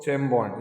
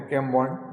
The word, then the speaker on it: Chembond: तो दोस्तों चेम बॉन्ड या कैम बॉन्ड, जो भी आप प्रोनाउंसिएट करें, कैम बॉन्ड केमिकल्स।